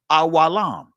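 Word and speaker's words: עולם: You'll see the Hebrew word awam. I'm saying it from the ancient Hebrew pronunciation of it. Awalam, which also transliterates to the word forever.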